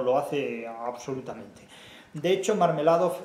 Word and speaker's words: Marmeladov: De hecho, Marmeladov es un... casi parece que uno está pronunciando la palabra mermelada.